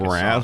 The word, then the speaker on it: Mraz: He had an album called Mr. A to Z because that's how you spell his name.